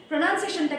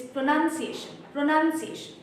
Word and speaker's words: pronunciation: প্রনাউন্সিয়েশনটা কিন্তু যেমন অনেকে নিয়েছি প্রনাউন্সিয়েশন word itself, প্রোনাউন্সিয়েশন, নো, that is not the word, it is pronunciation.